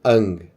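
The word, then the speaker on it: 앙: Agora, se ela tiver no final, se eu colocar uma bolinha aqui embaixo, na terceira posição, vai ter som de, né? NG, né? Esse que é o nosso famoso NG. Então aqui eu, como é que eu vou ler? Ang.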